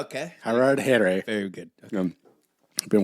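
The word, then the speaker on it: Harardhere: How do you pronounce that? Harad Here. Oh, okay. Harad Here.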